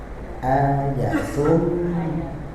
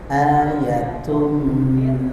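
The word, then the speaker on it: آيَةٌ: lazila ynya pendek panjang ayatum. Nah, bukan ayat tapi ayatum.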